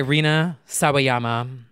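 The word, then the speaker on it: Rina Sawayama: here we go here we go lucid by Reena saama yes that's true did I pronounce that right you did you got it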